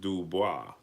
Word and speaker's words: Dubois: He said pronounced Dubois.